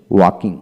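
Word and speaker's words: walk: চোখ চোখ হলো ব্রিটিশ উচ্চারণ চক হচ্ছে আমেরিকান উচ্চারণ তারপর আসেন ওয়াকিং ওয়াকিং এল এর উচ্চারণ হবে না তারপর আসেন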